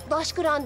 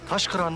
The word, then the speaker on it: Daşkıran: Daşkıran diye okunur. Taşkıran diye yazılır durmuş etikette şivi istemeyeyim. Çıkart şunu. Taşkıran mı?